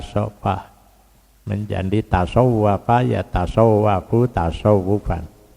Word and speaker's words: tasawuf: menjadi tasawafa ya tasawafu tasawufan cuma kita membacanya tidak SH tapi Sin t tasa tasawuf gitu mestinya tasawuf dari kata Safa makanya